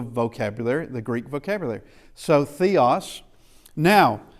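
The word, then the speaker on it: θεός: Theos.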